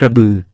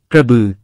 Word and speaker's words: กระบือ: จะออกเสียงเอ็ย ไทยเขียนคำว่า กระบือได้ แต่เขมรออกเสียงคำว่า กระบือ ไม่ได้ ถ้า บ ใส่สระ อือ จะออกเสียงเป็น กระเบอ ดังนั้น การออกเสียง กระบือ จึงเป็นการออกเสียงแบบขอม ส่วนการออกเสียง กระเบ็ย เป็นการออกเสียงแบบเขมร คำภาษาไทย ออกเสียง กระบือ จึงเป็นสิ่งที่ถูกต้อง เป็นการออกเสียงแบบไทย อักษรขอมโบราณ ออกเสียง อือ แต่เขียนเป็นสระ